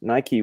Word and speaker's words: Nike: says I don't project Nike Greek Victory pronounced Nike was a US Army